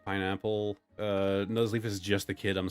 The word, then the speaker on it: Nuzleaf: Also, I've heard it pronounced like Nuzzelf and Nuzleaf. Nuzleaf just looks and sounds correct to me.